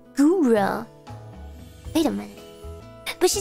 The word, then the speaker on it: Gura: No, Guda! Guda! Wait, how did she say my name? I can actually hear how everybody says my name in my head. When I join the Discord, she goes, Hi, Guda! No, she says Gura.